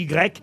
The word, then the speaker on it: Y: c'est la lettre grec le village d'IG on prononce i hein le nom de la ville mais ça s'écrit y une seule lettre dans